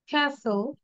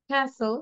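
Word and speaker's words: castle: শুনবো বারবার ওকে দেন সাইলেন্ট টি after S এস এর পরে যদি টি থাকে সেটা সাইলেন্ট থাকবে বাট সবসময় না কিন্তু ক্যাসেল উইসেল Rachel হাসেল নেসলে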